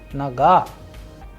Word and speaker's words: нога: In naga also we have a vowel o, but the stress is on a, that is why the pronunciation is naga.